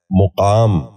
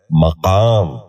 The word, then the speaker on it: مقام: مدافعت۔ دسواں لفظ ہے مقام۔ یہ غلط تلفظ ہے، اس لفظ کا درست تلفظ ہے مقام۔ دوبارہ سنیے، مقام۔ بچوں